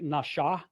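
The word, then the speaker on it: נשא: When it's over the right side, it's pronounced more like nasha. It's pronounced with a shh sound. When the dot is over the left, it's with a s sound.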